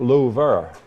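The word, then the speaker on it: Louvre: the Lou and yes they pronounce it Lou and that is the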